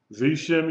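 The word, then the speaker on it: בשם: Vishim Yeshua. All right? We pronounce the schwa because it's at the beginning of the word. So you've got one syllable, V, and then S-H-E-M, Shem.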